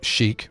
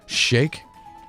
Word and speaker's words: Sheik: Time Ganon and then here's Sheik or shake depending on how you want to pronounce it it's Zelda dressed up